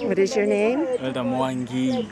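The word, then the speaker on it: Mwangi: her okay Elder M what is your nameer mongi mongi how do you spell that m w a n g i or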